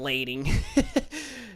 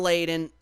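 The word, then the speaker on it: Layden: Shawn Leen Shawn leaden I don't know why I said Shawn leing it's just hard to pronounce his last name but Shawn leaden the original CEO of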